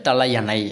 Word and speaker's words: தலையணை: நம்ம தூங்க போகிறோம் தலகாணி தாங்க, தலகாணி கிடையாது, தலையணை அப்படிங்கிற மாதிரி வரணும். அடுத்து வேர்வை கிடையாது, வியர்வை.